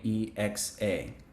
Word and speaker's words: Ijexa: I didn't hear you spell it. Would you mind repeating? Sure. Ijesha is Ijexa.